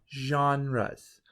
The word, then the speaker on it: genre: and those different types are broken into different genres g e n r e genre is how we pronounce this word and that literally means different